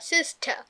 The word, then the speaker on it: sister: সিস্টার না বলে, Sister. Brother না বলে। Brother. So whenever raw comes last, then raw is silent, তাই না?